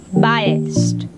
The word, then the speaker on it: biased: Today's word of the day is biased. Its spell is B-I-A-S-E-D. Biased. So let's articulate with me. Biased. Biased. While pronouncing the word, just make sure one thing, that it should end at T sound.